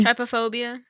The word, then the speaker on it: trypophobia: guys had what is it how do you pronounce it Trypophobia Trypophobia yeah Trypophobia so if you have a fear